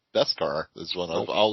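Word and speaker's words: Beskad: i want you to spell on the card b-e-s-k-a-d and tell me it's pronounced best scar that's dip that they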